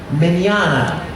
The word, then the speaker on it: Mignogna: my name is vic menana it's italiano i know it looks that it looks a lot of extra letters in there and it's hard to pronounce but it's much easier than it looks and but you just